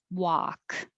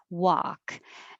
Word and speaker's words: walk: Work, walk. Forget about the L. Walk. And I put in the phrase context, Americans pronounce this the same as WOK, the cooking wok.